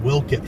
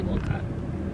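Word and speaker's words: Wolcott: I learned like a month ago that walcott is pronounced Wilkit for some reason. I say Wilcott.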